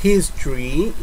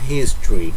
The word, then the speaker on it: history: Pero en el caso de history, no se dice an porque la H aquí suena como una J. A history.